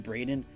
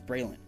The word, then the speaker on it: Braylon: Like, everybody's like Brandon, Braden, Braydon. I don't know where the Braydon came from. It's Braylon, but they got it.